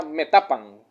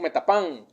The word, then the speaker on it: Metapán: la tercera de spam entonces la mayoría de palabras en el náhuatl llevan la fuerza de voz en la penúltima en este caso sería me tapan la pronunciación correcta desde el agua por la influencia del español nosotros decimos metapán en cuscatlán por ejemplo